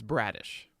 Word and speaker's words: Bradish: is it bradish or bradish how do you pronounce it uh it's bradish all right bradish I got it right uh where does he